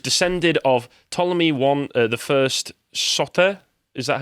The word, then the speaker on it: Soter: She was descended of Ptolemy the First Soter. Is that how I pronounce it? Sorry, where are you? Yes, you could say Sotir. Yeah. Soter.